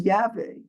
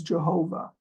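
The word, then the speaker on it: Yahweh: Who Art in Heaven he is known as yve sometimes mispronounced as Jehovah in the Hebrew Bible the father in the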